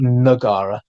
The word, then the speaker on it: Taman Negara: He established what we now call Taman Negara, which should actually be, I'm going to keep pronouncing it Negara out of habit, but it's actually Nagara, by pitching to sultans